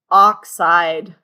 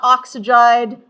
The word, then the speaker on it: oxide: How many syllables for our nonmetal? 2 syllables. Nonmetal ions generally have 2 syllables. So not oxyide, not oxyide, oxide.